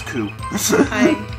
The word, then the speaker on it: coup: And she got away with her little coup because she used to be a detective. That is not how you pronounce coup.